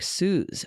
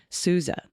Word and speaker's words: Sousa: Perhaps the mispronunciation of the name of the March King was humorous, but I wanted to report the OU in Sousa is pronounced like you, like Suze. Okay, Sousa.